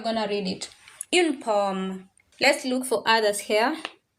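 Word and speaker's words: pomme: So that is how you're going to read it in pom.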